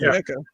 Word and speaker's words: NECA: Is it NECA or whatever how you pronounce their names? Yeah, it's NECA.